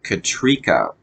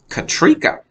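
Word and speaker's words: Katryca: it uh it looks like it should be pronounced could catch Rika but it's pronounced katrika okay so I thought that was interesting katrika even though it's with a y katrika okay she says she is the leader of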